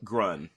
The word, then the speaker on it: Grun: Grun is his name. Grunt? Did you say his name was Grunt? Grun. Grun. I wonder if that was almost a pun on Grunt, because he doesn't talk. And they're just drop the T.